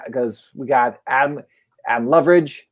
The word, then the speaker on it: Loveridge: we got adam um loveridge is how you say your last name for leverage that's awesome